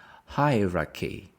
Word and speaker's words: hierarchy: your company hierarchy hierarchy chy we pronounce with the c hierarchy hierarchy the stress is on the first one hierarchy have you ever